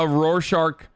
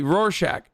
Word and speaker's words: Rorschach: rorshark as a character am i saying it wrong how do you say it how are you supposed to say it roshack i never knew how to say i thought it was rorschach okay rorschach sorry whatever um i i've